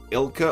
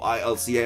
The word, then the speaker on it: ILCA: see what masuda and ilka or ilca apparently pronounce it is just ilka so that makes it